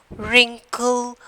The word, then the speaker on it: wrinkle: I told you, no, wrist, wrinkle. We are not pronouncing the W.